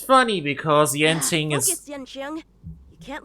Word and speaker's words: Yanqing: That's Yanqing.